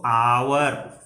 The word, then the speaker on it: hour: First sound जो हमारे मुंह से निकला वो निकला एच, इसका साइलेंट है, इट इज नॉट प्रोनाउंस्ड। तो हम यहाँ पर क्या लिखें, इसको पढ़ेंगे अगर तो आवर, आ।